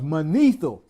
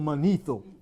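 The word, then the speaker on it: Manetho: to cover us and lie about it because mano this Egyptian historian during the 3rd Century BC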